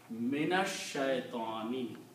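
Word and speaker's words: من الشيطان: When you pronounce noon with the sheen, it will become minash.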